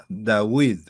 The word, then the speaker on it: David: David, eh, la VAB, que es la letra que comparte el alfabeto de los árabes con los hebreos se pronuncia como u.